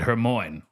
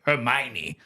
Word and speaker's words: Hermione: when I was a child uh I always pronounced it her Mo because that's how her name was spelled and I didn't have anybody to tell me that that's how you say Hermione I think it's a madeup name probably another